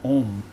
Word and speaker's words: Aum: of Threes those are called pries the word is spelled AUM om it has three Matas doesn't it so right